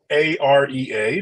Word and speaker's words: AREA: us what is the a-r-e-a the augmented reality for Enterprise Alliance and maybe introduce yourself to our audience here yes thanks very much Evan yeah so we kind of pronounce it as the area and as you said